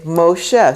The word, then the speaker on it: Moshe: it's O Moses's name when you're reading from a Kash will say Moshe so you'll have a me with this o right there and you pronounce the O and that's how you get Moshe the o so that's